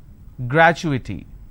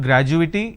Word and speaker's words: gratuity: pictorial confirmation technology accrual gratuity it's not graduating it's gratuity all right so when